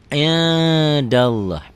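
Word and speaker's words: عند الله: Bacanya gimana? Indallah. Indallah. Tuh, n-nya ada g-nya. Indallah. Tapi nggak begitu kali. Indallah ya, nggak begitu bindeng.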